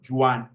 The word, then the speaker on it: Joan: Per tant, no va bé que els pronuncien com a Juan, sinó que diguem Joan, perquè senzillament és que